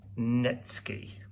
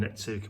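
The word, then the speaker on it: netsuke: don't know uh japanese netsky and it's it's spelt n-e-t-s-u-k-e so nitsuki a lot of people call them nitsuke but they're actually japanese netsky so these were the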